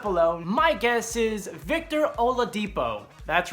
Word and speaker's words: Oladipo: be please comment below my guess is Victor Oladipo that's right Victor Oladipo I can finally pronounce it if you watch our channel I've